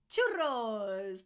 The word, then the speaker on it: churros: Now, when I say churro, I know that the double R is super tricky to pronounce. Give it a go. Chu, like you know the train. And then churros. If you say churros because you can't roll your R, it's fine.